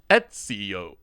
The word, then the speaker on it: Ezio: Etsio. It's like the craft site, right? Where you can sell your things with an O at the end.